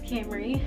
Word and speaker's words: Camry: first of all hi my name is camry it's pronounced like the toyota and i live in